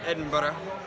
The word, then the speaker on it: Edinburgh: Alrighty, guys, so we are in Edinburgh, which is how I pronounce that, I guess.